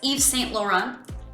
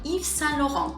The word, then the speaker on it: Yves Saint Laurent: by English speakers as Yves Saint Laurent, but it's actually Yves Saint Laurent. So here, we're actually not going to be pronouncing the T's at the ends of Saint and Laurent.